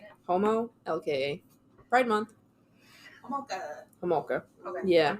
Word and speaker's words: Homolka: Spell it out. How are you saying it? Homo, LKA.